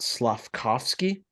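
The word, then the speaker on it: Slafkovský: yeah just start building it now this slot slavkovsky is that how you say it yep I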